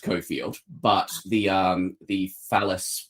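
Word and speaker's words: Cockfield: school because it was it was spelled C O C K Field and pronounced Koffield but the um the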